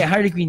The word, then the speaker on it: Harley Quinn: How to pronounce? Harley Quinn or Harley Quinn? Harley Quinn. Pero may E eh. Hindi, Harley Quinn yan.